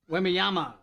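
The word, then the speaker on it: Wembanyama: Four TVs in here, and I saw, is it Wimby? How do you say his last name for the San Antonio Spurs? Wimyama.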